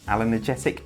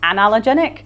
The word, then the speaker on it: Anallergenic: First off, and correct me if I'm wrong, I think it's an allerggetic diet.